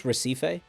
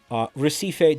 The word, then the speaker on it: Recife: Recife? Recife, these nuts on your forehead.